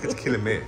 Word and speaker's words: Quilmes: It's Quilmes. It's the S is silent.